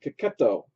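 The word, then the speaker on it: Checchetto: So at least that's how CB Cebulski pronounced his last name, Cacchetto.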